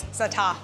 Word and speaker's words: za'atar: But you just don't you drop the R. Drop the R. And and you extend the A. Za'atar.